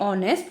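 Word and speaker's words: honest: First sentence, my mother is ए ऑनेस्ट women. अब ऑनेस्ट का pronunciation अ से शुरू हो रहा है, साउंड अ की आती है, तो यहाँ पर ए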